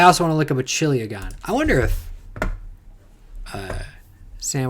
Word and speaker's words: chiliagon: A chiliagon. Oh, that's how you pronounce it.